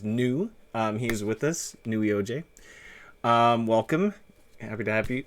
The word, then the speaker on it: Neweoj: It's not pronounceable because it's not a word. Okay. All right. Cool. So we'll get into that. So I'm gonna call you New. Welcome to the It's the. just it's just easier if people call me new. Hmm, I've heard people try to pronounce it, and probably the best way to pronounce it is Neweoj.